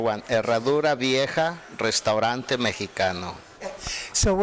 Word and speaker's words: Harradura Vieja: the name of the restaurant so I don't mispronounce it? Harradura Vieja, Restaurante Mexicano. See, I don't think I would have pronounced that properly, right? Yeah, that is the correct one. Harradura Vieja, Restaurante Mexicano.